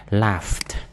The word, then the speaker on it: laughed: Laugh, cái chữ này, chữ ed này nè, mình đọc là âm thờ ha. Laughed, laughed.